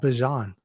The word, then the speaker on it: Bijan: He was interviewed, and someone actually asked him the correct pronunciation, and it's Bijan. Kind of like, so say it like the mustard.